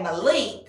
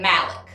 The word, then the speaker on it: Malik: name i would say malik well it's his name but he pronounces it malek so it's his name